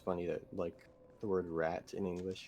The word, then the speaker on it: rat: word rat in English, you have the exact same spelling in French, but it's le ra. Yeah. Yes. You have to do the French R and then not pronounce the T, basically.